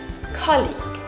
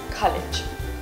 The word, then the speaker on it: colleague: We say colleague and not college.